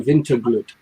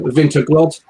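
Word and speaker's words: Vinterglögg: for it tonight, the Vinterglud, which we've recently learned how to pronounce a little bit better than we did before. Instead of Vinterglod, I think our, silly way of saying it.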